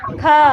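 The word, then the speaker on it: ख: Kha. How will you pronounce kha? Kha, not blank. You should not say it blankly like kha.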